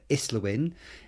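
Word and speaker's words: Islwyn: Neil Kinnick, who's shadow spokesman for education and MP for Islawin in South Wales. And we know that's pronounced correctly because we looked it up actually.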